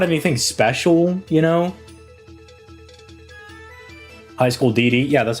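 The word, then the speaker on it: High School DxD: High School DD, yeah, that's how you say it. You don't pronounce the X.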